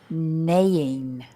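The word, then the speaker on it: neighing: the last one is ning ning very horrible spelling isn't it but it's ning uhuh Okay so we've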